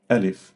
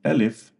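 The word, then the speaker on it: ألف: a letter in English which is a or al if yeah. So we have two things the name and the pronunciation. So the name is al if and the pronunciation is ah or sometimes extending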